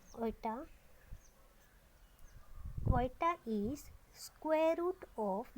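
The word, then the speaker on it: iota: अब ये आई क्या है, इसे हम प्रोनाउंसिएट कैसे करते हैं, I means eta. What is this I, आई इज आयटा। जो आई जो सिंबल यूज हुआ इसे बोलते हैं आयोटा।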